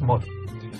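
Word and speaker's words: một: Ceci est le chiffre 1 écrit en homme, ça se prononce mo. En utilisant le Quốc ngữ, on écrit ce qu'on entend, le M, le O, le T et le point souscrit pour avoir le ton.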